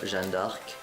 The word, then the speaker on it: Jeanne d'Arc: So she is basically the alter ego of Jeanne d'Arc, or Jeanne d'Arc in the French pronunciation.